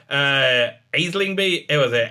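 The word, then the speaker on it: Aisling Bea: Aislingby. It was it. Aislingby. You don't pronounce the L. Aislingby.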